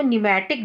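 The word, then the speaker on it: pneumatic: Okay, इसीलिए इनको न्यूमैटिक bones भी बोलते हैं। पी जो है इसमें साइलेंट होता है, इसको न्यूमैटिक बोन्स भी कहा जाता है।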